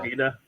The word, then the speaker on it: Drogheda: Drogheda.